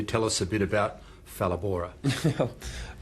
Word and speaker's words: Phalaborwa: Can you tell us a bit about Phalaborwa? It's pronounced Phalaborwa, but Phalaborwa, a lot of people get it wrong, don't worry.